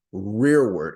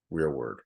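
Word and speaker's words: rereward: he would be our rear word it's spelled re e r e w a r d rear word yeah where he not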